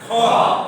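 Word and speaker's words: خ: এটা হয়ে গেল কি খ। খ, খটাও ঠিক একই ভাবে, খয়ের উচ্চারণ খ। আমরা তো পড়ছিলাম হা, পড়ছি না, না এটা বলতে হবে কি খ খ খ খ খ, এখান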